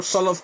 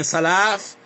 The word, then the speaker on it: Salaf: If you cannot pronounce the word Salaf correctly and saying Sulaaf, and you don't know